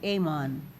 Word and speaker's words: almond: Amon kasi silent L daw yan. Parang si salmon oon or amon produce eggs or ova as well as the hormones estrogen and progesteron.